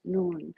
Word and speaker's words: nun: an invitation oh noon the letter nun in toning the n Sound pronounced nun a Semitic letter really